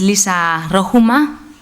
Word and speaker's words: Liisa Rohumaa: Ella es Liisa Rohumaa. Did I pronounce it right?